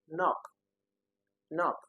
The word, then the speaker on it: knock: We have a knock. You know the pronunciation of knock excludes the first letter which is the K letter knock. So the K the first K is silent unlike kite.